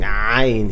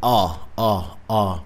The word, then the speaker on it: عين: Well, the first common mistake that Brian Wiles always makes is not pronouncing عين, the Arabic عين, well. Instead of saying عين, he say ah, which is wrong.